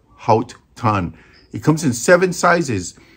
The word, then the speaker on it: Haut Ton: but it's produced by halt tan h-a-u-t t-o-n which I guess is pronounced hot ton it comes in seven